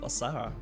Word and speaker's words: Osahra: Osahra.